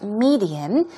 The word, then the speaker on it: medium: And then medium, here we go, stress goes on the first syllable, it's medium, and we're talking about a certain means or a way of expressing your ideas, for example.